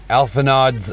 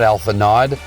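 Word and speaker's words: Alphinaud: while this is for alpha nodes uh not alpha nod alpha no it's pronounced alpha no i guess i don't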